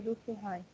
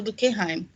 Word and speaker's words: Durkheim: O Weber e o Durkheim. Isso mesmo, gostei da pronúncia do Durkheim. Tem gente que ainda fala Durkheim, né? Porque ele é alemãozão, né?